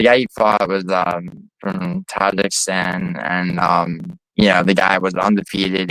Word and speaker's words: Tajikistan: I mean, pronounce it correctly. Tajikistan. Tajikistan. Tajikistan. That's unquestionably the correct pronunciation. Yes, it's Tajikistan.